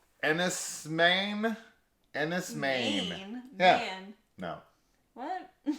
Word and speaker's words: Enys Men: looked it up on Google and it said Ennis Maine okay is how you pronounce it so there you go all right